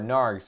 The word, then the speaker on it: Narg: Okay, we're going to jump into T-Narg's stream right now, or Narg's stream. I'm trying to learn how to pronounce his name. It's Narg. The T is silent.